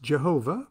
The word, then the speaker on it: Jehovah: the ineffable four-letter word spelled yod hey vav hey pronounced jehovah by the profane and referred to in